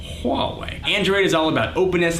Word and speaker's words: Huawei: by motorola samsung LG hallway that's how you pronounce that huawei android is all about